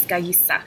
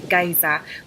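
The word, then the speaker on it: Gaïa: So I would say stick to the actual correct pronunciation, how it's supposed to be pronounced in Italian, which is Gaïsa. So like I said, if you were to pronounce it in the French way, it would be Gaïsa, but it's not a French word.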